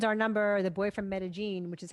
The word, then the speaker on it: Medellín: So 7.7 is our number, the boy from Medellín, which is how they pronounce it in the movie. I always thought it was Medellín, but Medellín is how they say it in the film.